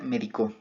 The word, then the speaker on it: medicó: La segunda palabra sería medicó. Esta palabra, como podemos ver, pues ya tiene una tilde marcada en la última sílaba, lo cual lo haría una palabra aguda.